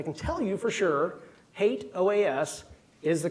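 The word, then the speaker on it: HATEOAS: the past I can tell you for sure hate oh is is the correct pronunciation I'm also going to bring in the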